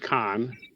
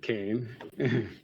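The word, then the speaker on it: Cannes: It's pronounced Khan, not Kane. Yeah. Also, thank you, Vona, for stopping by for that second uh second place medal. So, it's not pronounced K. The S is silent and and the modifier.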